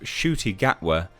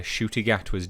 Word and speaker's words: Ncuti Gatwa: Russell T Davies' hearts are in the right place, but the introduction of Ncuti Gatwa, that's apparently how you say his name, new Doctor, was marked by a number of questionable decisions and racist tropes.